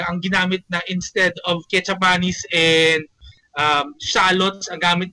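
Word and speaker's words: kecap manis: that I learned of the proper way to pronounce it ketchup manis hindi pala kup manis Ketchup manis or dark soy sauce na binabash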